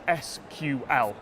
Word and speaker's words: SQL: there's actual bit of debate over how I should pronounce this I call it sequel injection the acronym is SQL whichever way you call it it's a way to